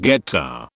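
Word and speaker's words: goetta: Grandma's homemade gota, pronounced geta, recipe was found on the side of the Quaker Oats box.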